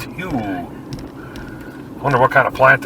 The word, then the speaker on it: Hugh: Pronounced Hugh.